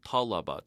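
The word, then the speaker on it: طلب: Notice how this differs from talaba, to request, the Form 1 verb, because then our accent is on the second to last syllable.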